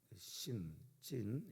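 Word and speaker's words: צן: 그 광야와 이름은 한국 성경에서는 똑같은데 히브리어 발음은 조금 다릅니다. 찐 이렇게 발음을 하는데요.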